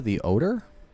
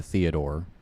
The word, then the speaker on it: Theodore: the Odor? Theodore. It's the Odor. Imagine if that was the actual pronunciation. My bad. I'm pretty sure it's Theodore.